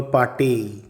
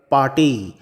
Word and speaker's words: pâté: আপাততভাবে এর ইংরেজি বানানটা দেখলে মনে হবে লিভার পেট। কিন্তু ওই এ এবং ই এর উপর দুটো ভিন্ন মাত্রার আঁকড়া থাকায় এর উচ্চারণ হবে লিভার পাটেই।